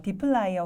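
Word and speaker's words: dplyr: 분들이 계실 수 있는데 어 디플라이어 혹은 디플러 이렇게 발음을 합니다이 디플라이어 같은 경우는 데이터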